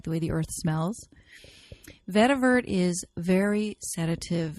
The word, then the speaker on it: vetiver: essential oil on our top 10 list is vetiver I have seen it spelled with a tee at the end but generally it is not have the tea but it's always pronounced a vetiver this is a incredibly grounding earthy oil this